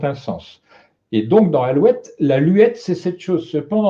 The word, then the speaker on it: alouette: Si on prononçait correctement de nos jours, on dirait alouette, mais avec un U seulement et non pas le OU.